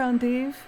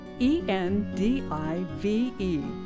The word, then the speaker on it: endive: The pronunciation, "ON-deev," honors the origin of the plant in Belgium, where, almost two centuries